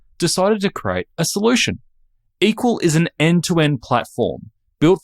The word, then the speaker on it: EQL: CEO and co-founder of equal that's eql pronounced equal Andrew is a former